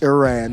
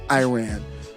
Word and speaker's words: Iran: you make a statement this reporter says you're not pronouncing the name of the country right it's Iran not Iran first of all respect